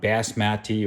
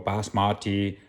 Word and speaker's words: basmati: So the reason being is basmati rice, you can say whatever you want, basmati or basmati. I call it basmati rice because that's how Indians pronounce it with an accent, basmati, you know what I'm saying?